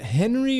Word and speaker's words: Henri: H- Is it Is it Henry or is it Henri? Henri. Henri Veesaar. We'll have to check with the official pronunciation.